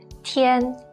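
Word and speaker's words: 天: nothing go being Beyond is pronounced as TN Tien means sky or heaven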